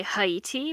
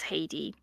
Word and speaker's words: Haiti: So we have Haiti here, or I personally would say Haiti because the original name of that place is Ahiti. So Haiti is closer to Ahiti. Um, but I know that it's Haiti and Haitians in the United States.